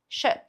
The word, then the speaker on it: shit: aqui na garganta, ó, shit, shit, que é um som nem de E nem de I, é um shit, e é mais curtinho também, então shit, shit.